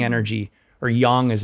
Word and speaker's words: Yang: to create even more sun energy even more Yang energy or Yang as it's actually pronounced wow yeah so there's different Dynamics but